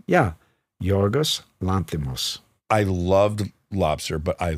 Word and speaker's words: Yorgos Lanthimos: Will you pronounce the director's name? Yeah. Yorgos Lanthimos.